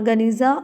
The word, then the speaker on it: Geniza: In 1896 a huge collection of medieval Jewish document was discovered in a sealed room, Geniza, pronounced Geniza, of the sealed room of the Ben Ezra synagogue in Fustat।